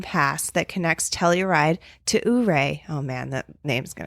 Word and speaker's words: Ouray: It's spelled our A-Y. Ouray. Ouray? I feel like I should know also, but you nailed it. That Okay. was the perfect pronunciation.